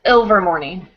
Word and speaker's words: Ilvermorny: Do you guys know how to pronounce the new wizarding school, the American one? It's Ilvermorny.